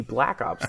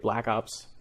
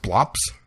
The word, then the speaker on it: Black Ops: up and uh played Black Ops this week with Kyle and uh wait it's not pronounced blops I don't say blops because I'm not a dude bro oh Kyle send in